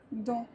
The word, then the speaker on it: dents: On ne prononcera ni le C, ni le D, ni le S, ni le T, ni le P. À la fin des mots, par exemple, on dira loup, blanc, rond, dents.